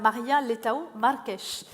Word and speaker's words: Maria Leitão Marques: la République portugaise, Madame Maria Leitão Marques. J'ai fait attention, je l'ai prononcé à la portugaise et non à l'espagnol.